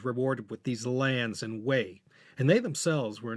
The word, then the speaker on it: Wei: a different character but shared the same fourth tone in its pronunciation.